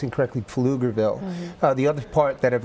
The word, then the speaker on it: Pflugerville: one in Austin and one in Latin often pronounced incorrectly Pflugerville the other part that I've learned is that